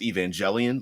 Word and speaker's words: Evangelion: uh Evangelion which I I think is pronounced Evangelion like like evangelicals because you know they